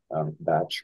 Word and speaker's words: Bach: um great Dr Edward Bach batch Bach how it's pronounced uh certainly and what